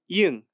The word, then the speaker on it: 이응: 이응, 응 is silent when it's at the beginning of a word, but at the end it sounds like like sing.